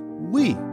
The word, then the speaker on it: Wii: The Wii is pronounced as Wii, which emphasized the console is for everyone.